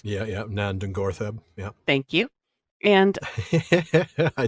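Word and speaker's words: Nan Dungortheb: Ungoliant wound up living, that I can never pronounce. Yeah. Nandungortheb.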